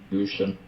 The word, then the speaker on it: Gutians: Let's see, pronunciation. Gushen.